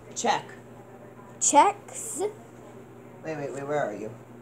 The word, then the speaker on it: Czech: Spell it. CZECH. Check.